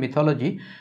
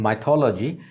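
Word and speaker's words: mythology: প্রথমটা হচ্ছে মিথ, এটা হলো মিথোলজি, পুরো ফর্মটা হচ্ছে মিথোলজি। যদিও সৌরভ গাঙ্গুলি ইন্ডিয়াতে তার দাদাগিরি প্রোগ্রামে বলেন মাইথোলজি, আসলে উচ্চারণটা হবে মিথোলজি, মাইথোলজি হবে না, মিথোলজি হবে।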